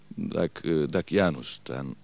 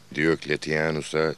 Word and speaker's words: Diokletianus: Yanılmıyorsam Dakianus'tan bir haber getirmiş efendim. Pekala, gelmesini söyle. Gir içeri asker. Hala doğru telaffuz edemiyor. Diokletianus'a Dakianus diyor.